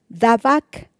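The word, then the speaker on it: דבק: Esta palabra unión en hebreo es la palabra dabac. Dabac con bta y acento en la A.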